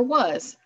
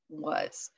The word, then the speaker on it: was: a sound all these cvc words except for was follow that rule we have the short o or the short a sound so that's that's what our list is all about this week short a short o and then we have that one odd ball was w-a-s okay guys now you